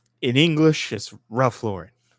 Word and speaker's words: Ralph Lauren: Unless you're French, then it's Ralph Lauren. Yeah, that's fine. If you're French, that's how you say that name. in English is Ralph Lauren. Just how anyone named Lauren is that's how you pronounce it.